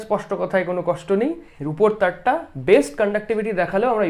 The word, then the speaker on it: rho: ওকে, বা রিলেটিভ রেজিস্ট্যান্সও বলে, আপেক্ষিক রোধ। ঠিক আছে, আপেক্ষিক রোধও বলে। এটা হচ্ছে রো, উচ্চারণটা কি, আর এইচ ও স্পেলিং, রো।